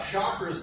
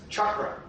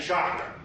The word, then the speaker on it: chakra: It's actually pronounced in Sanskrit as chakra. I graduated from Ash Grove. I'll be saying chakra because that's the way we talk around here.